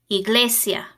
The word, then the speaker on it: iglesia: sound Amaka e e Iglesia letter i always makes an e sound Jota Jota jabón the